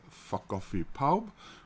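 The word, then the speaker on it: Ffa Coffi Pawb: F coffee pow which means everybody's coffee beans but phonetically sounds like something else in in English ears probably why um and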